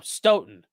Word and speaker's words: Stoughton: It rhymes with Doton. Oh, Stoughton.